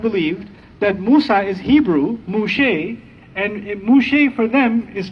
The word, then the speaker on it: Moshe: It's the Torah, they pronounce him Moshe. They don't call him Musa in Hebrew.